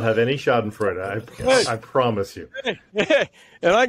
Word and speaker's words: Schadenfreude: And if I drop in Schadenfreude, people, whatever it is, what is it? Schadenfreude.